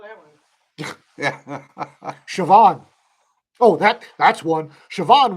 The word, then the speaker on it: Siobhan: it was spelled right yeah s-o-i-b is in boy h-a-n Siobhan yeah it's not there's no CH in there there's no V's in there yeah sir brass got it yeah Siobhan yeah uh yeah Matt